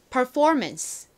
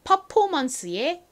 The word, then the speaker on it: performance: 이 단어에서는 강세가 이 for 부분에 옵니다. 자, 다시 한번 연습해 볼게요. for 부분의 강조를 빡 해주세요. performance. 좋습니다. performance. 한국식으로 performance의 의미는요.